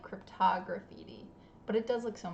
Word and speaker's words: cryptograffiti: So yeah, so it's 5 syllables. It doesn't roll off the tongue, and you're not alone.